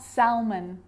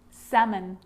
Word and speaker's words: salmon: native speaker called yoke so this makes it easier in these words where L is really difficult to pronounce then it's silent ready let's try it could could should should talk walk yoke half-caf salmon not Selman salmon so we got through